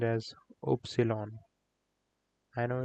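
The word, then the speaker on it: Ypsilon: Y is a little bit awkward Y is pronounced as opsilon I know it's handful but that's what it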